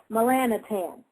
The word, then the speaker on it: Melanotan: pineals because there's a thing out now called melanotan everybody write this down it's spelled m e l a n o t n melanotan melanotan but it's pronounced melan tan it's also called liquid sun and some other